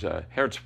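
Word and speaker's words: Geert: Anyway, he had to get back to his work, but then my friend Hert Bevan, Hert is actually, he's Belgian, his name is spelled G-E-E-R-T, he asked if I needed his help, and I said, sure, it'd be wonderful.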